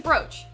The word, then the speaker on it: brooch: what a pretty bro it's a brooch she's pronouncing it bruce though oh oh what a